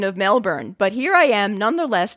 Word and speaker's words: Melbourne: syllable's vowel sound specifically put the emphasis on the first syllable and replace the o